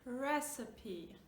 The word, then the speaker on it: recipe: Try to say it, it's recipe. Now in this one we pronounce all the sounds, right? Recipe. It's not receipt, it's not receipt, which is a total different word, right?